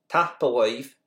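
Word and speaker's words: tapadh leibh: That BH at the end, which makes a V sound, is the connector. And tapalive, thank you, is how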